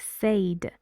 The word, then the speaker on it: said: Emma said she had a friend called Adele. Many students pronounce this because of its spelling. They say this word like said. It's said, and it sounds like eh.